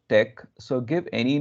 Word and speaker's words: TeX: I'm using latex file though it's written latex we call it as Tech it's pronounced Tech so give any name